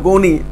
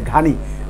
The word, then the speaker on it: গনি: আর হামিদ কারজাই এখন যিনি পালিয়ে গেলেন, এই আশরাফ গানি, আশরাফ গনি আমাদেরকে বলছে, আমরা উচ্চারণের তত্ত্বে এখানে পর্যন্ত আসছে, ঘানি আসলে গনি, গনি ওখানে অনেক অনেক